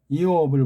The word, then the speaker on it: 욥: 이옵을 볼 때 이옵 이자가 반드시 발음해요. 이옵 빨라하면 이옵. 그런데 이걸 욥하게 되면 이게 우리 소리는 요가 이게 모음이 하나이기 때문에 한 음절이 돼버리기 때문에 틀린 거예요.